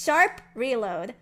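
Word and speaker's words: #Reload: And don't say I need to include the hashtag. Don't say I need to include the hashtag before reload. It's sharp reload.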